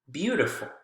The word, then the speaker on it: beautiful: Beauty, beautiful. Beauty, beautiful. Word stress is also on the first syllable for both of those.